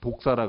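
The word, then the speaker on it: δόξα: 헬라어로 이 영광을 독사라 그럽니다. 독사. 무는 독사. 발음이 똑같아요.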